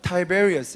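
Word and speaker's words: Tiberius: 티베리우스라고 적혀 있잖아요. 티베리우스. 영어로 발음하면 타이베리어스 이렇게 할 거예요.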